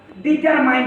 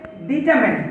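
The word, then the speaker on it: determined: রয়েছে ডিটারমেন্ট এটাকে আমরা ডিটারমাইন বলি এই ডিটারমাইন উচ্চারণটি কিন্তু ভুল এটার সঠিক উচ্চারণ হবে ডিটারমেন্ট ডিটারমেন্ট মানে হলো নির্ধারিত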